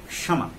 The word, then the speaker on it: क्षमा: तो देखिए अगर शुरू में ये आ रहा है तो हम छ का ही उच्चारण करते हैं इसमें, जैसे क्षमा, है ना, क्षमा, लेकिन अगर बीच में आएगा तो हम कश, है ना, जैसे कक्षा, इसका उच्चारण करेंगे कक्षा, यद्यपि छ की ध्वनि आ जाती है, कुछ लोग पूरा छ बोल देते हैं लेकिन नहीं आएगा, क्षमा, है ना, क्षमा, क्षमा मूर्धा से लेकर के बोलेंगे, है ना, चूंकि मूर्धन्य